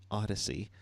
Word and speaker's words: Odyssey: in iHeartRadio Odyssey that's how you say it Odyssey uh of course you can always smash those